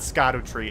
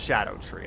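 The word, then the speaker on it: Scadutree: also fun like yeah it's not Scot tree it's literally pronounced Shadow tree like that is the old kind of spelling oh is actually or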